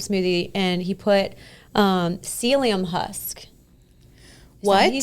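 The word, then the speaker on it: psyllium: T my husband, he was trying out a smoothie and he put um celium husk.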